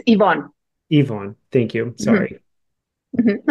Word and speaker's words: Yvonne: Did I pronounce that right? It's Yvonne.